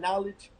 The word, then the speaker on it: knowledge: knowledge right the word knowledge you don't even say the letter came forward knowledge if you were to